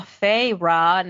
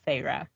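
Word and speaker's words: Feyre: to pronounce her name so fyra okay I just did Fay in my head just to get with it at first I think I was doing like fa but I was like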